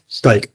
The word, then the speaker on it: Stike: Stike. Almost like there's a K. Yes. Stike.